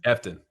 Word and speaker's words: Efton: Efton? Efton.